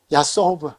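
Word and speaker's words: יָסֹב: 그래서 사바브 둘러싸다가 칼 미완료 복수형은 야소부 다게시가 들어가야 되는데 단수형은 야소브. 그 이제 베트에 야소브가 다게시가 들어가야 되지만 이게 단어 끝에 올 때는 그냥 야소브다. 야소브다. 야소부인데 야소브로 발음한다.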